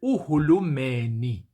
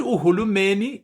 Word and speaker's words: uhulumeni: And it is the word uhulumeni. The word uhulumeni is um well, it can also be pronounced in IsiZulu as uhulumende.